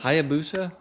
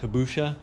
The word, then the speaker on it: Hayabusa: How do you pronounce that? Hayabusa? Hayabusa? Yeah. I remember in one of my videos I pronounced it like Habusha. Yeah. Habushka or something.